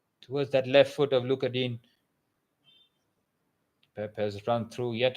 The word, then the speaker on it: Digne: Luca Digne, he's given me so many problems as a commentator.